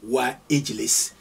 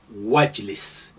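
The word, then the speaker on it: واجلس: You don't say wa ijlis, you say wajlis.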